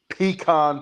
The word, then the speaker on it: pecan: Uh, I just I just took a few bites before the show, so I'm sure you'll The southern delicacy, peacon pie, right, Kyle. Pecan.